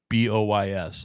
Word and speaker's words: Daoboys: So Daoboys, like Dow, like the Japanese, like Dow.